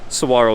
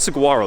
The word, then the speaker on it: saguaro: some of the Dead Saguaro there so you can see it's not Saguaro the g is silent saguaro cactus but these